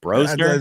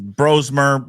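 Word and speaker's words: Brosmer: I know that Max Broner or Broer, what what how do you say his name? Broer. Bromer. Yeah, he's Oh, there's an M in there. Sorry.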